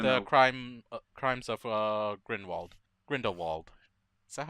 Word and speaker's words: Grindelwald: Grindelwald. Is that how you say it? Yeah, Grindelwald.